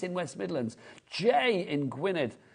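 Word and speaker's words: Gwynedd: West Midlands Jay in gwined is how you say that I'm Welsh I should know that gwi gwined GID I am Welsh yes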